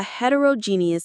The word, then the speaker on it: heterogeneous: supposed to be a heterogeneous environment. Let's learn that word heterogeneous. It's a long one but very useful. Let's say it hetereroius. Heterogeneous. The main stress is on that G syllable.